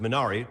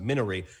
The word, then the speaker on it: Minari: ask you about minari which has been incorrectly pronounced minari many of us thought it was that case but i saw the director liaison chunks he pronounced minari you would message me